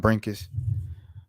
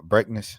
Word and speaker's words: Brinkus: So, rest in peace to John Brinkus uh or uh Brinkness, excuse me. Or no, no, Brinkus. Yeah. Yeah, Brinkus. I said it right the first time.